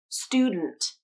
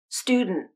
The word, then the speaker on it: student: t at the end student student or you can use nasal plosion and a stop t at the end student student let's take a